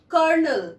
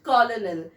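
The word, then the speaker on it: colonel: And next word is कर्नल. यस, इट इज कर्नल, नॉट कॉलोनल.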